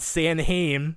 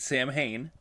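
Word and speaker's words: Samhain: you pronounce it because I've always said San Haim which is not correct it is well well in in in RGB they do pronounce it Sam Hayne but in Okay g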